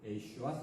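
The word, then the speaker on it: ישוע: 우리는 사투리 발음을 쓰고 있지만은 그 동네 발음으로 예슈아 또는 여호슈아 이렇게 한다고 했죠.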